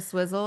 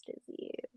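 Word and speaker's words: STIIIZY: remember when you'd make fun of me because I couldn't pronounce a stizzy correctly? What was I calling Oh, it? A swizzle I or can't something? a swizzle, I think. I was like, Mom, it's stizzy.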